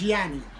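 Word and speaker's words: Jonnie: and that is spelled j-o-n-n-i-e my name is Yanni but we're we pronounce it generally okay it was Jackie Wilson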